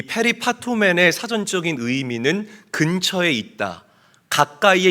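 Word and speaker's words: περιπατῶμεν: 자, 저기 빨갛게 칠해 놓은 행하면이라는이 단어는 헬라어로 페리파토맨이라고 읽고 발음합니다.이 페리파토맨의 사전적인 의미는 근처에 있다.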